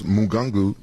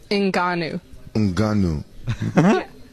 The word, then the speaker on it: Ngannou: I think I pronounced him Khabib Nigga Runoff. Francis, what's his name? Francis Ngannou. Francis Mugungu. Ngannou. Ngannou.